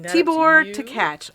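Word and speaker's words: Takács: Tkach. I had to look up the pronunciation of it because he's an Hungarian director.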